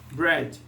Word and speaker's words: bread: Pão se pronuncia bread, né? Sem o A ali, sem o Azinho aqui, sem esse A aqui. Bread.